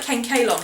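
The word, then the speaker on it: Kanekalon: It's regular 100% um we call it Ken Kalon here, but apparently a lot of people pronounce it Kolon.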